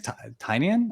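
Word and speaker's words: Tynion: you Scott Snider um James tinan I say tenian but I guess I was wrong the entire time uh but I mean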